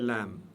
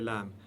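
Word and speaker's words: لام: Et le lam, prononcez-le, ou prononcez cette lettre toujours de manière légère.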